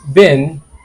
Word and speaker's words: been: that is being and this one is been sound similar yes they sound similar are they the same no they are not the same being in bin have you been to